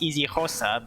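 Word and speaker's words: isiXhosa: I don't know like I know it's pronounced easy HOSA but I don't know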